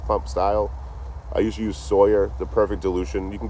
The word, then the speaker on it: Sawyer: Sawyer does a good job. Like a Tom Sawyer.